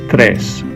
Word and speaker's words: tres: The 3 is pronounced tres.